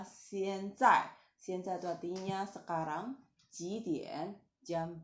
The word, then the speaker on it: 现在: Waktu Anda pronounce 现, lidah di bawah, 现在.